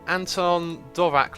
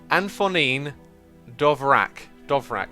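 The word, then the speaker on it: Antonín Dvořák: So, oh, you can pronounce Anton Dvorak like Anfonin Dovrak.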